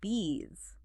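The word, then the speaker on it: बीस: And lastly 20 is bees. Okay. And sounds just like the English word for those buzzing insects.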